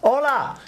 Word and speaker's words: hola: Hola. Not pronouncing the H.